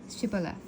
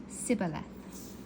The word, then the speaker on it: Shibboleth: And they said unto him, Say now Shibboleth. And he said, Sibboleth, for he could not frame to pronounce it right.